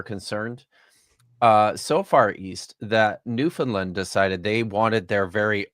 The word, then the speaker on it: Newfoundland: Did you know that there's this place here in Canada called Newfoundland, and it's pronounced Newfoundland, but it's spelled Newfoundland.